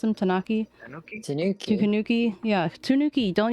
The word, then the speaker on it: Tanuki: it's it's a tunaki right that's how you pronounce him tanaki Tanuki Tanuki Tanuki yeah Tanuki don't you know the